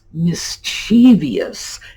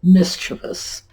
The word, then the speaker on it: mischievous: What you hear a lot with this word is mischievous. It's like there's an extra letter in there. So one syllable is mispronounced and we throw in an additional syllable. Now, mischievous, very simple, and this